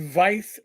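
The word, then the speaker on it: Vyse: post at the corner of ho Avenue and vice Street vys SSE but pronounced Vice so I could have gone over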